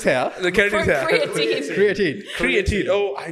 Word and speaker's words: creatine: So, again, the keratin, the No, not electrolytes. keratin. Keratin is hair. The keratin is here. Creatine.